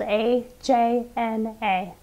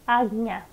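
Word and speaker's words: आज्ञा: The Sanskrit name for this chakra is Ajña chakra. This is kind of a hard one because in English letters it's spelled A-J-N-A. But English letters sometimes do a fairly poor job of translating Sanskrit letters. And the way that we say this chakra is not Ajna, instead it's Ajña.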